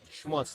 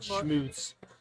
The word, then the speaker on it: Schmutz: Also, he pronounces his last name wrong. It's Schmutz, not Schmutz.